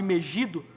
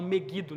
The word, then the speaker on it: Megido: de Jesel ou no vale de Megido, as pessoas falam meuido, né? talvez influenciados pela tradução, pela pela eh pronúncia em inglês.